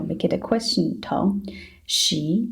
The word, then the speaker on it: 十: So first you can think about s, and then you can think about the sh as in hush. S, make it faster. S, sh, sh, sh. That's the sound of a sh. Now we just need to make it a second tone.